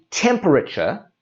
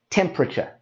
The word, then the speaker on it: temperature: So instead of saying temperature, we say temperature. And we drop out that sound.